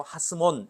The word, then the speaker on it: 하스몬: 더 더가 붙은 거야 그러니까 하 시몬 이렇게 돼야 되는데 발음을 이제 연화시켜 가지고 하스몬 이렇게 얘기를 한다고 그래서 시몬을 왕으로 세우는 그